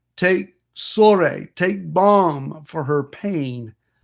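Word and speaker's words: צרי: as bomb in hebrew the word here is sore if you were to translate that t z e r dash e with the accent on the final letter sorry from this word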